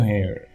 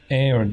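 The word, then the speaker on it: heir: Chance of new hair. Hair değil, air diye okunuyor değil mi?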